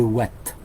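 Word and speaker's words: Houat: une petite île bretonne qui s'appelle l'île de Watt. Je pense qu'on prononce Watt. L'île de Watt, ça s'écrit H-O-U-A-T.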